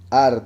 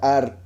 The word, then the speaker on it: Ar: Ciertamente de noche fue destruida Ar de Moab. Ar quiere decir ciudad, viene de Ir. Ir es ciudad, pero se escribe con Ain. Aquí la Ain se pronuncia como A, entonces Ar.